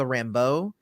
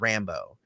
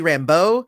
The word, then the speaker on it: Rambeau: the show, which is Rambo, which is kind of annoying to me. It should be Rambeau, not Rambo. It's where you place the accent, and it just makes